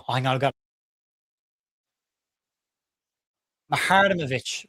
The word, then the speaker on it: Muharemovic: Oh, hang on, I've got Muharemovic. Right. Okay. Thank you, Paul. Paul, thank him because I keep calling him Muharemovic. Muharemovic. Muharmovic. Muharemovic. There you go. M-U-H, Muhar, E-M, Ovic. Muharemovic.